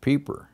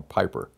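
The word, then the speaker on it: Peiper: turned out it was General peeper well that's the way the Germans pronounce his name we we always call him General Piper but his name I think pronounced junal peeper came down with the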